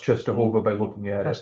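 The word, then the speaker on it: Częstochowa: Oh, You never know, I know, Go- you never know it's pronounced Czestochowa by looking at it, that's the but.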